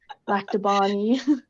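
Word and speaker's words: Lac du Bonnet: she grew up in la de bunny I'm not sure if I'm saying that correctly you don't need to pronounce it the French way nobody does back to Bonnie back to Bonnie in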